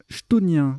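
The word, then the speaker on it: chthonien: Hein, donc il y a et ça se prononce chtonien d'ailleurs. Autant pour moi, j'ai fait 2 fois la bêtise. Ça se prononce chtonien. Chtonien, c'est dur ça, un mot qui commence par ct.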